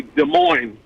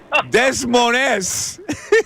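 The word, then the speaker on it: Des Moines: And that's why people say de mo pronounce the two s. Yeah. Oh, okay. So we've been pronouncing it wrong the whole time. Uh I like des myself. Desoness.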